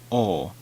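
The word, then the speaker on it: を: say wool I said oh the W is generally silent generally and some people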